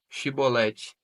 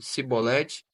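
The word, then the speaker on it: Shibboleth: Se respondesse que não, os homens de Gileade lhe diziam: Então deixa Shibolete. Se ele dizia Sibolete, não podemos pronunciar corretamente a palavra.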